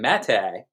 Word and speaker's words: Maté: Aaron Maté, pronounced correctly.